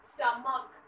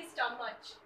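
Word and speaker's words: stomach: When CH is pronounced as K, जहां पे CH की जो साउंड आ रही है वो च की ना आके क की है, जैसे स्टमक ना कि स्टमच, राइट.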